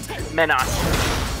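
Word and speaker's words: Menat: I think her name is, yeah, if I'm pronouncing that right, is it Minette or Minot? Minot.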